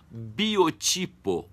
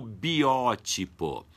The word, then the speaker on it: biótipo: Então, essas 3 palavras têm 3 maneiras diferentes de serem pronunciadas. Já biotipo ou biótipo.